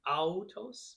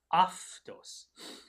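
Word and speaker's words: αὐτός: This is the word that looks like it might be autos, but again, in this pronunciation, it becomes an F or a V. So aftos. And the same thing with this one.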